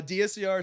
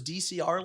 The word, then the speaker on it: DSCR: Uh DSCR stands, it's actually one of the most mispronounced acronyms. That's what I heard. People forget the S just like randomly, right? Like, oh, you do those DCR loans?